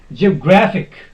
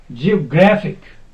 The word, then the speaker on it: geographic: will be success then geographic geographic not geographic no that is wrong geographic the word is ending